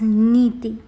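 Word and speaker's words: നീതി: Next, I am inscribing the word justice, again in Malayalam, that is pronounced as Niti.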